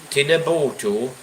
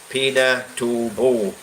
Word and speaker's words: Pinatubo: Oh, Tinabutu, Mount Pinabutu, Mount Tinabutu, and this volcano actually killed many people here in the Philippines. So I'll actually pronounce it better. Right, so Pinatubo.